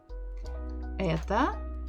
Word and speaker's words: это: Это окно. Это окно. Это окно. So let's look at the first word. Первое слово. Это. Это. Ударение, the stress, is on буква Э.